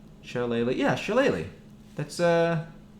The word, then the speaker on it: Shillelagh: Yeah, Shillelagh.